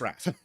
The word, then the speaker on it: RAAF: In Australia, we have the RAAF, which we still pronounce RAF. Because have you ever met an Australian that uses more syllables than absolutely necessary? Or- RAAF, that's 3 syllables. RAF is like 1.5.